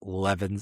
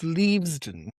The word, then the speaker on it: Leavesden: time in this instance Leven Leven Levesen Studios in England. I'm not sure if I'm pronouncing that right. Probably because it's the British's poor way of speaking so they name things weird. No, darling. It's Leavesden. Leaves. Of course. Leaves.